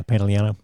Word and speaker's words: Pantoliano: Stars were John Kazir, Joe Pantoliano. Joey Pants. Is that how you say his name? Yeah, Pantoliano.